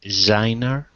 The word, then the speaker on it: designer: The designer. That was perfect. Do you know the problem? Yeah. You like emphasized it for me. Yeah, that was perfect. So it's a Z sound.